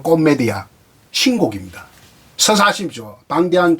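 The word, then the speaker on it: Commedia: 라 디바나 코메디아, 정확한 발음은 코메디아, 신곡입니다.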